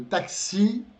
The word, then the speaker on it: taxi: Le taxi, le taxi, um táxi, le taxi, só que o acento, a sílaba tônica está no final, tá?